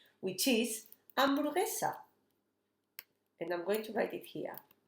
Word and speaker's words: hamburguesa: with H, which is hamburguesa. And I'm going to write it here. Hamburguesa. Remember that we don't pronounce the H is a silent word and we don't sound it.